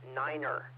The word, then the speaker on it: nine: pronounced fife like f-i-f-e the number nine should be pronounced niner and that's very standard in military nets uh zero is zero